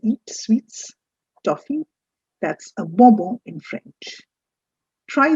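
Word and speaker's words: bonbon: the three words here the first word is bombo bobo what is bobon bobo is toffee tuffy that we eat sweets toffee that's a bombo in french try spelling this i put it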